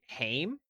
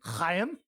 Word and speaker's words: Haim: Um, we've got I Quits by Ham Ham when Haim Haim. Don't pronounce it like that.